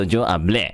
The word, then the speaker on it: hablé: So if there's an accent on the if there's an accent on the right, then the one before is like unaccented. Okay, so yo hablé.